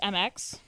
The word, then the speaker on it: Mx: No, a lot of people use like MX. They pronounce it like mix.